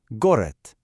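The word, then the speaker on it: город: It ends in d, which makes a d sound, but because of our rule, we pronounce it with a t, a t- sound instead. So, it becomes goret.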